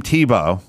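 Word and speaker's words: Thibault: they're not talking to he's a uh Tim Tebow he pronounces it that way that's spelled thibalt uh top level FBI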